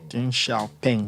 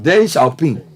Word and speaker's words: Deng Xiaoping: Deng Xiaoping, is that how you pronounce his name? Deng Xiaoping. Deng Xiaoping.